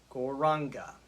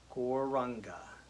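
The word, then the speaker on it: Gauranga: going to use tonight is gore ranga and I will say those syllables you can repeat after me. Gore raga. Gore raga. Goranga. Goranga. So we're going to use the mantra goranga.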